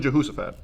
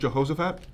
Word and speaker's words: Jehoshaphat: Jump in Jehosaphat. I actually believe it refers to someone from the Bible. Oh, Jehosaphat. Oh. Oh. Is it Jehoshaphat?